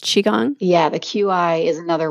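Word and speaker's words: Qigong: Qi g o n g okay and it's pronounced chiong yeah the QI is another way to spell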